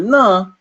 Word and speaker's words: न: Remember way back when we said that Mr. Na is pronounced using the tip of the tongue touching the teeth.